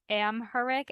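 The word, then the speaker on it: Amharic: have a western calendar and I'm going to mispronounce this so I'm really sorry but it's am herck a m h a r i c and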